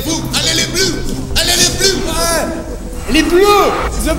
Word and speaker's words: les Bleus: Allez les fous, allez les bleus, allez les bleus. Ouais. Les bleus, c'est the pronunciation, my friend.